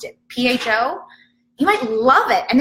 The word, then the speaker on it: pho: tried spa I never even knew how you pronounced it pho you might love it and then you find